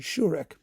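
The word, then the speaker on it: Šourek: Then we've got Otakar Sourek, Sourek, pardon me. Let me get the pronunciation. Sourek, who is a the preeminent Czech Dvorak scholar.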